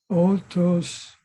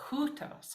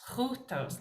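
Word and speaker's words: οὗτος: One suggestion, correction is that very first word. It's kind of hard, easy to miss because it's over the second letter because this makes one sound. This utos, because it has a rough breathing, we say hutos, hutos.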